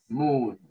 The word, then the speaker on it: moon: Moon. Moon. Esa doble O de moon se pronuncia como una U larga, como nuestra U, pero un poquito más larga.